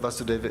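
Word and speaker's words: Vāsudeva: That means Krishna's father Krishna's father is Vasuva and Lord Krishna as the son of Vasu Deva is called Vasu Deva long a so Nandanda Maharaj inquired my dear Uruda how is my friend Vasuva enjoying life.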